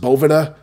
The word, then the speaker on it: Boveda: and now that I know that it is pronounced Bhavana I am enlightened or as the kids would